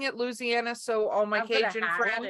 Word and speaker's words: Louisiana: around the Louisiana, because that's how you say it, Louisiana or Louisiana. It just depends. I'm saying it Louisiana, so all my Cajun friends.